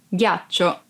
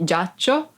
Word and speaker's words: ghiaccio: Ghiaccio, ice. Ghiaccio, ice. Be careful because if you don't pronounce G as an hard sound like G, it would be giaccio, that it's a verb and means lie down.